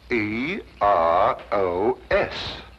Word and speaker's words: Eros: influence of Cockney stagehands she added an H where there shouldn't have been one what then spell it as she spelled it but without the H e r o s precisely and here he